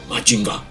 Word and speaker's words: Mazinger: El sonido al pronunciarlo en japonés es Machinga.